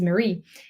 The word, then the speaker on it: Marie: like Marie like like not I say my name is Mary but my name is Marie and so it's it's